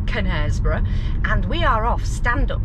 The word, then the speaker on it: Knaresborough: this now uh k is for nesboro silent k connersborough and we are off